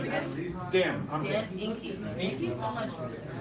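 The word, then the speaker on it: Enkie: Dan, I'm Dan Inky. Thank you so much for this. Is it E? E-N-K-I-E. But it sounds like ink, like I is. Yeah, you know when people pronounce everything, Anky, Yeah, Inky, yeah.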